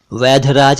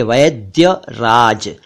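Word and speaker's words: वैद्यराज: कहते हैं वैद्य राज वैध राज नहीं वैद राज नहीं बल्कि वैद्य राज एक शब्द है उद्योग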